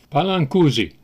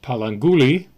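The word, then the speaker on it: Pallanguzhi: totally mispronounce these names palang kuzi actually pronounced palangi I don't know why the zh is in there just the way it's pronounced I guess V galui alul man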